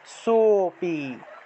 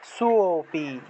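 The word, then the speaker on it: সোঽপি: সো, সো উচ্চারণ করলাম, কিন্তু সো এর যদি আমরা দ্বিগুণ উচ্চারণ করি, সোপি, সোপি, ঠিক আছে, সোপি, এইভাবে সো উচ্চারণ করলে একটা অ চলে আসলো, যার ফলে আমাদের লুপ্ত অ এর উচ্চারণটা হয়ে গেল।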